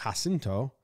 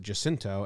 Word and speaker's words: Jacinto: said it pronounced it Jacinto and San Jacinto. So it's a hard J, tricky, tried to throw me for a loop.